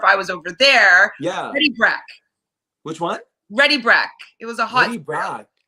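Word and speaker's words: Ready Brek: Ready Breck. It's spelled like BREK, like Ready Breck.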